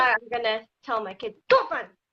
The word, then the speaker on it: 煮饭: 煮饭. 煮饭? 煮 is cook. 煮饭. 煮. Yeah. Can you spell To it cook phonetically?